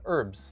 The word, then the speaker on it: herbs: How do you How do you say for me it's uh herbs? Like the H is silent.